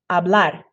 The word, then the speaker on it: hablar: And then when you put the R, don't move your jaw, just flick your tongue once. Hablar, hablar, bailar, bailar.